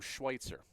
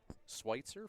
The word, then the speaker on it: Schweitzer: And Schweitzer doesn't make much phonetic sense. SWITZER. Spelt like Switzer, but pronounced differently. Correct. Let's go with that. It evolved from the name Schweitzer.